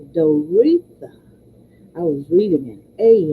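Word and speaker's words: Doreetha: one faculty member said Doria no no no I'm pronouncing her name wrong just because it is spelled differently it's dor please excuse me d o r e e t h a dtha i was reading an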